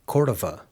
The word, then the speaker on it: Cordova: Some of you may have heard me say my last name as Cordova, just like this lady did, while other people pronounce it Cordova. Honestly, it just depends on where you're from, and I was born here in New Mexico, and that's where my family is from. So the native pronunciation is Cordova.